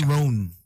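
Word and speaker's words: Roan: r r uh-uh Ron Rowan R right Chapel rone yes you're making me question my confidence now B I'm like oh my God chapel rone chapel R new singers I thought it was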